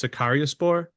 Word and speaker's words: Sakaryaspor: It's Sakariaspor. Is that how you say it? Yeah, exactly like that.